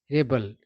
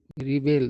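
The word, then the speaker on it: rebel: है बात आगे है रेबल है ना इसका उच्चारण नाउन सॉरी इसका उच्चारण रेबल और रिबेल दोनों होता है है ना तो नाउन के तौर पर इसका उच्चारण होता है रेबल रेबल मतलब होता है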